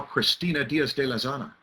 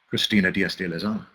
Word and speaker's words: Cristina Diaz de Lezana: Look at how Cristina Diaz de Lezana, who may not be here, but I know that I'm pronouncing her name correctly. Cristina Diaz de Lezana.